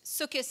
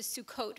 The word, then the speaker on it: Sukkot: Sukkis as opposed to Sukkot for the holiday in the fall.